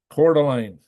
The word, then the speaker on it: Coeur d'Alene: So Coeur d'Alene.